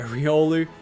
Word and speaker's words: Riolu: with the r God I keep getting his name wrong Riolu Riolu yeah there we go Riolu yeah Riolu damn I just can't wait to